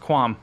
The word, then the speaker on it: qualm: when I read it I know there's an L in the word qualm but that's quam I looked it up it's pronounced quam I'm sorry it's been 77 I have one single quam with the show just